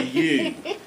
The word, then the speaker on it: ewe: A ewe. But it's not spelled Y-O-U, is it? It's spelled E-W-E.